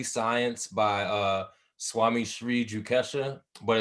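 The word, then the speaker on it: Yukteswar: uh the holy science by uh swami shree jukesha but it's spelled like yukaswar like y-u-k-t-e-s-w-a-r they have like uh passages from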